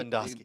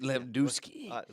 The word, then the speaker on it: Lewandowski: pronounce it right. Lewandowski. Lewandowski.